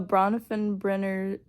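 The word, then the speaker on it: Bronfenbrenner: if I can pronounce his name right the bronfen brener theory that's how you pronounce his name um is and it kind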